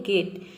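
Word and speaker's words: get: example देखते हैं गेट गेट में आप देख रहे हैं कि जो जी है ये कॉन्सोनेंट है और ई के बाद जो टी है ये भी कंसोनेंट है मतलब कि यहां पे दो कंसोनेंट के बीच में ई आ रहा है इसलिए हम यहां पे ई को ए प्रोनाउंस कर रहे हैं तभी इसका प्रोनंसिएशन हो रहा है गेट गेट का मतलब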